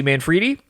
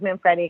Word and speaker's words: Manfredi: I mean, everybody says Manfredi, because it looks like Manfredi, but, it's Italian, and it's Manfredi, but it's okay.